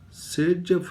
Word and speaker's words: Saytzeff: Sage-Jeff rule, spelling is not exactly like this.